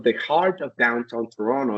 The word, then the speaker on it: Toronto: So it took me a while to learn that, but you pronounce it Toronto.